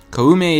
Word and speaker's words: Koume: Koume is Koume, and then Kotake is Kotake.